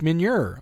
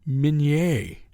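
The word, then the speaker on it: Meunier: It was designed by Eric Minier, or Minier, as it's supposed to be, and he doesn't know how to say his name.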